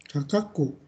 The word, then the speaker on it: 価格: Kemudian ini bacanya apa nih? Kakaku, ya, kakaku.